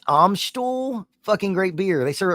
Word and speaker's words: Amstel: Wait a minute, not to be that guy, but it's pronounced Amstel.